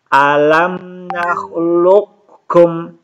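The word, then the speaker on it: أَلَمْ نَخْلُقْكُمْ: Sama ini juga teman-teman sekalian, qaf ketemu kaf. Alam nakhluqkum. Jadi qafnya tidak diqalqalahkan lagi.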